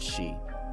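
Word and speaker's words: Sidhe: it's like pronoun or it reads like said he or something like that but it's pronounced she anyways uh yeah they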